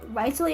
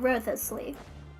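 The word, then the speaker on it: Wriothesley: I learned way too late that it's pronounced Riceley and not Ruthlessly.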